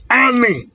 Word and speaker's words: ani: say the same language ani is pronounced as a n i by spelling an. In other dialect is pronounced as a l i. And in other dialect is pronounced as a l a. In other it is pronounced as a n a an.